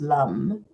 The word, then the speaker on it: lam: The sound um of the the the mantra is the vija mantra is lum and it's actually spelled lam l but it is pronounced lum but we'll first do the resonance sound.